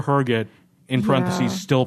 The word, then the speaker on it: Herget: Yeah, and in the show notes I wrote HUR-giht in parentheses, still pronounced Oh my HUR-giht.